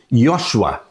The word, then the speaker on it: Josué: O nome Josué no Antigo Testamento se pronuncia como sendo Yosua.